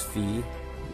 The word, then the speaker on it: Fi: um fee okay uh i believe it is fee um most likely is because fee is based off um at least the spelling is based off of the um the greek letter fee and i have evidence